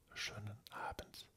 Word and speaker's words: Schönen Abend: Ça se dit schönen Abend. Pareil, le E ne se dit pas à la fin. Le E ne se prononce pas, mais les N sont toujours là.